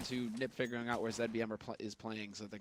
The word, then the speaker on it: zbm: It's pronounced ZBM. We're in Europe here.